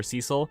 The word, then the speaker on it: Cecil: getting confused they started calling him cecil or cecil and i'm like no it's cecil but i'm